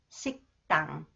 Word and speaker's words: 식당: Okay, when 디귿 follows the final consonants 기역 that is pronounced 그, it is pronounced 뜨 sound. 식당, 식당.